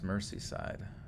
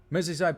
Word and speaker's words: Merseyside: Merseyside. Is that how you say it? Merseyside? Click print. I'm getting sloppy. Merseyside. Merseyside. Merseyside. Mersey? What the fuck? S pronounced with a Z?